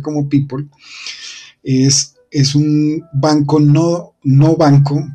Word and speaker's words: Pyypl: Aquí vemos que esta es la sigla P-Y-Y-P-L, se lee así rápidamente como Peeple o se pronuncia como Peeple.